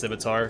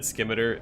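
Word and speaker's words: scimitar: gameplay K skimer like even before I knew how to pronounce simitar cuz I only read it in books or wherever um I said skimer like I knew it didn't sound right I knew I was saying it wrong oh son of a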